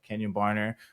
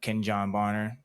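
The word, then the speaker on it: Kenjon Barner: um that uh Kenyon Barner which is uh Oh yeah, shout out. Yeah. Yeah. Kenyon Barner uh Ken John Barner if you want to pronounce it correctly.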